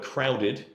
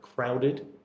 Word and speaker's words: crowded: you use the word crowded yes uh there is a bit of a habit among some people to say kind of crowd yeah but it's actually got the extra sound so like crowded yeah and then finally